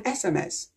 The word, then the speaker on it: SMS: But in this abbreviation, we pronounce it S, S, and it starts with the vowel sound E, E. E is a vowel sound.